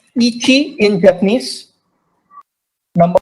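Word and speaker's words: いち: So number 1 is pronounced as ichi in Japanese.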